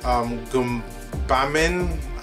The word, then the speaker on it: Gbamin: I don't remember his first name, but you pronounce his last name as Gbamin, G-B-A-M-I-N.